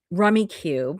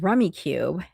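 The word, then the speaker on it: Rummikub: So I grew up playing Rummy Cube or Rummy Cub. It doesn't have an E at the end, so I'm never sure how to pronounce it.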